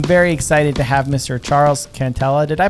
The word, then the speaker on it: Charles Cantella: pressure podcast i'm very excited to have mr charles cantela did i pronounce that right charles you did you did